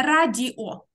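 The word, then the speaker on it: radio: Тільки не радіо. Радіо. Трошечки-трошечки твердіше оце «д».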